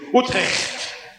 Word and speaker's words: Utrecht: It is Utrecht.